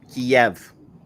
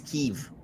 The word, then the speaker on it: Kiev: went to school the the capital of the Ukraine was Kiev Kev K IE V Kev but apparently been saying it wrong this whole time is keev ke keev because all